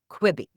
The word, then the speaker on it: Quibi: And one of the stories that you tell that I think explains this so well is Twitch versus Quibi.